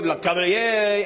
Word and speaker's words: Lecavalier: We are in the cave, Lecavalier, and this is awesome.